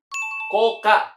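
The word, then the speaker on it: 高価: Jawabannya adalah koka. Hai, cara baca adalah takai. Itu juga dibaca dengan ko. Terus ka di sini adalah dari kacinya. Ka, value.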